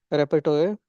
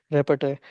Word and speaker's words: repertoire: I was reading it as repet.